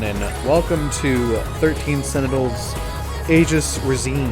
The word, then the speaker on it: Aegis: welcome to 13 senators aegis regime it might be aegis that word can be pronounced either way in the english language and you can get away with it pretty regularly um i'm not promising